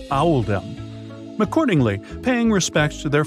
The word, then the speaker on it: Oldham: was made to reflect the pronunciation of Oldham in the local accent which is audem accordingly paying respects to